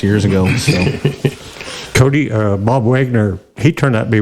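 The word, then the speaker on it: Wegner: It's spelled Weg, but he said it Wagner.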